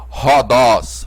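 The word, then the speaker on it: ῥόδος: vamos chamar de roldós a transliteração é com h mas a pronúncia é com R Rodox Rodox a pronúncia com R R Raul Então essa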